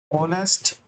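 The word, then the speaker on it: honest: नेस्ट मैन नेस्ट मैन ये ऐसे करके प्रोनाउंस होता है नेस्ट ठीक है आ आता है इसमें एच की जगह मतलब देखो एच जो है य तो में काउंट नहीं हो रहा लेकिन हिंदी के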